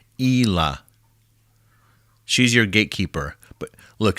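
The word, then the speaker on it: Ila: yeah with the eyelashes the name is i l a I would I would pronounce it as Ela she's your gatekeeper but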